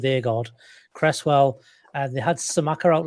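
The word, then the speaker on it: Aguerd: pronounce his name, but Iain told us before it's Agard, so I'm going to go with Agard.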